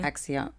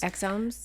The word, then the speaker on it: exosomes: those, and correct me if I'm wrong pronouncing this, the axioms. Exomes? Exosomes.